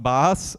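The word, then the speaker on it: BaaS: It's pronounced BAS, and the intern thought it was really funny to draw a sheep here as the picture.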